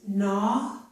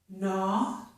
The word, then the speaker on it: gnaw: But if we have the letters G plus N at the beginning of a word, such as gnaw or gnat, the letter G is silent.